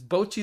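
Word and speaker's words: Bocchi: Pronounce bocce, by the way. It's that's how you pronounce it in Japanese. It's Bochi the Rock.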